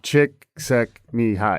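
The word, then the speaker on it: Csikszentmihalyi: how to pronounce uh chick sek me high i'm not going to attempt it yeah that sounds right it's like chick suck me high it's actually not that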